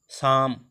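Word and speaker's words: psalm: एफ ओ एल के hoc, could should, साम पी एस ए एल एम साम, साम मीन्स संगीत या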